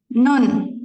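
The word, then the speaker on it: 눈: kita tahu lah ya, konsonan ini N kan? N. Nah, dia nggak ada perubahannya. sama-sama N. Dia posisinya di atas pun N. Di bawah pun dibacanya N aja. Nggak ada perubahannya ya. Oke. Kalau gitu, kata ini coba baca. Nun. Nun, benar ya. N, vokal U, di bawah masih ada N kan?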